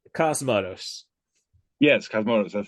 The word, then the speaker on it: Cosmatos: Yes, Cosmatos.